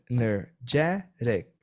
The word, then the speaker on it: energetic: for example here, energetic, energetic, right? Remember that you have to clap, right? So clap your hands. So energetic, 4 syllables, okay? Remember this because it's very different from Portuguese.